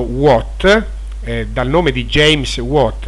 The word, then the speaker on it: watt: kelvin si semplificano e watt che andrebbe pronunciato what dal nome di james